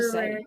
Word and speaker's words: February: February is hard to February. say. February. I always like to pronounce the R instead of saying How February.